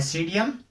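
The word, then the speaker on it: Psidium: और इंग्लिश में आप ध्यान रखना कि इसमें पी साइलेंट रहता है। सीडियम गवाजावा।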